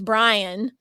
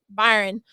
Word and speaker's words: Byron: Uh, and Molly actually asks him, "Oh, your brother's Brian, right?" And he just responds, "Uh, Byron."